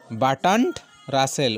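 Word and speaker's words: Bertrand Russell: তর্ক হয় না উক্তিটি কার উক্তিটি বাটান্ড রাসেল বাটান্ড রাসেল উচ্চারণটা বুঝতে হবে বা টরফালা আছে খেয়াল রাখতে হবে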